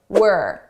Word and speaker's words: we're: about the pronunciation changes notice the contraction were were this is we are as a contraction were now notice how unstressed my pronunciation is it sounds like were not we're were this is how native speaker say it at a natural